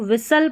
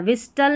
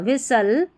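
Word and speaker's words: whistle: यहाँ पर भी देखें STLE है, तो इसको सल करके पढ़ना है, T साइलेंट है, ठीक है। अब इसको विसल पढ़ना है, विस्टल नहीं पढ़ना, विसल।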